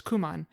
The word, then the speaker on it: Kumon: And so that's my first official job, was I worked at what's called a Kumon Center. Some people pronounce it as Kuman.